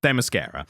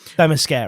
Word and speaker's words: Themyscira: You're going to have to pronounce it for me. Themyscira. Themyscira.